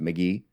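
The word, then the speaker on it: Mk.gee: GE E or he says it's said it's pronounced McGee and his album Two Star in the Dream Police came out recently and I just love it.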